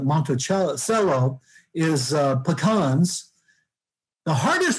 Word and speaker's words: Monticello: outside south florida uh monticello not monticello but monte cello is uh pecans the